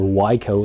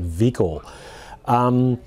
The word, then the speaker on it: Wiko: the vehicle wax or yko if you'd like to call them like that as it's a french company i'll stay with their pronunciation vehicle it's as I said